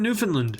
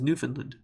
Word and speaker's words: Newfoundland: Is it Newfoundland or Newfoundland? If we're looking at it in an English perspective, it should be pronounced Newfoundland, but everyone says Newfoundland.